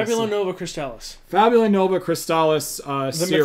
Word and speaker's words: Fabula Nova Crystallis: It was going to follow with the same world, essentially, as the Fabula Crystallinova. I think that's how you say it. Fabula Nova Crystallis.